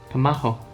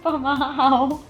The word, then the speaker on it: pamahaw: P-A-M. Pamaho. Ah! No. Pamahaw.